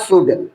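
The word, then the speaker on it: should: जैसे हम इसको पढ़ते हैं शुड एस एच ओ यू एल डी इसको पढ़ा जाता है शुड। या एच आपका साइलेंट होता है।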